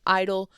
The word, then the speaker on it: I-DLE: I've been calling them I-dle for years because that's how you're supposed to pronounce it.